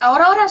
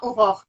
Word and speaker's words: Aurore: La cosa es que mi nombre en francés no sé, no es Aurora, sino Aurore. Pero Hugo. yo prefiero Aurora que más bonito Ya. que Aurore.